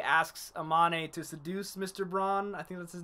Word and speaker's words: Braun: In the dub, it's Braun. So Oh, I guess Braun then it is.